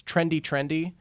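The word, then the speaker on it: Trndy Trndy: And they're called, I hope I'm pronouncing it correctly, it's Trendy Trendy, which is just no vowels, Trendy, you put it together, and that's what it is.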